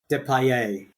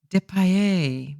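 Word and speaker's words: Depailler: And I can tell you how that's pronounced because I have heard it pronounced in old formula. Depay. Depay. Very French.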